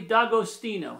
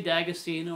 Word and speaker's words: D'Agostino: On my dad's side, I'm D'Agostino. That's how you pronounce it in Italian. D'Agostino. But some people say D'Agostino or D'Agostino.